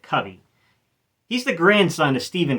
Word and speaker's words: Covey: So, to begin with, Britton Covey, I believe he actually pronounces it Covey.